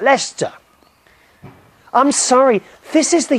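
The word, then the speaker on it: Leicester: elom no it's not it's Lester l e i c s t e r Square Lester dear that's how it's spelled but you say it Lester I'm sorry this is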